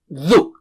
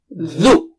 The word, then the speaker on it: ذُ: And let's take dhu. It's not zu. Dhu. Touch the tip of the tongue. Touch it with the top teeth, edge of the top teeth. Dhu. 3 times. Dhu. Dhu.